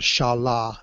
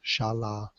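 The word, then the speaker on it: Xala: in an area called Shala it's spelled x a l a but it's pronounced Shala and uh I just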